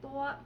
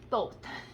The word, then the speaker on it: Thoth: Thoth is how you say it.